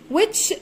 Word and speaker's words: which: بصوا اهي which معناها اي. which معناها اي والاتش سايلنت مش بنطقها والدبليو بنطقها بصوت حرف الوا.